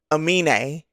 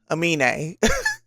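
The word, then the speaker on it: Aminé: So I've been pronouncing his name wrong, but I've been trying to do better. I believe it's Amine.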